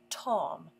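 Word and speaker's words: תָּם: Hebrew the word for blameless here is T pronounced Tom T A WM and it means gentle dear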